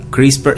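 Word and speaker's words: CRISPR: nos tanto tecnología es un método llamado a crispar se pronuncia crisis por christopher kas nine ya se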